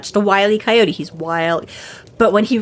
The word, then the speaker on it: Wile E. Coyote: It's how it's spelled, W-I-L-E, middle initial E, Coyote. The joke being, of course, that it's Wile E. Coyote, because being wily is sneaky and cunning and whatever, right?